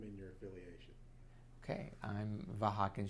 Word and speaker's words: Vahakan: state your name and your affiliation okay I'm vakin it's spelled uh my first name is spelled v